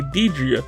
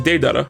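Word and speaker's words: Deidara: yes you heard right i did say diedria but what i meant to say was de-dara and i said deidre because that's how i honestly thought it was pronounced day that i debuted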